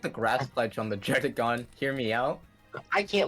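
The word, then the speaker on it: Druddigon: That name is weird to pronounce, okay? Dredigon. It's so simple. It's just Dredigon. Yeah. Some people even say Oh, Dredigan.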